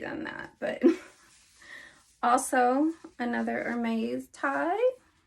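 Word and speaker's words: Hermès: But also another Hermes tie. Hope I believe I'm saying that correctly. Some people will pronounce it with an S at the end. Some will leave it off.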